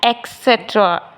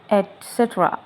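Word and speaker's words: et cetera: नेक्स्ट word ईटीसी को हम कहते हैं एक्सट्रा एक्सट्रा नहीं कहते इसको कहते एसेट्रा एटसेट्रा जी अब बताइए इसको क्या कहते हैं?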